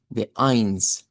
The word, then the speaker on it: eins: Y de hecho en este EI veríamos lo que hemos dicho de Eins, del sonido EI escrita se pronuncia como I.